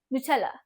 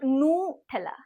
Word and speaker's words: Nutella: and speed it अप से नठला सी all ready better नछला नछला नॉट नथला नॉट नटला और नटला और नटला से इट नछला then let the brand